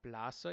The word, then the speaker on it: plaza: may have noticed but the Zed makes an S sound so whether you see an s or a zed in Spanish it's always going to be like an S sound so it's LA plasa and laferia the fair